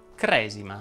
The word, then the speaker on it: cresima: Ed infatti le parole che terminano in esimo ma non sono numerali vanno pronunciate con la E chiusa. Si dice battesimo, protestantesimo, cristianesimo e così via. Una sola parola fa eccezione. Cresima.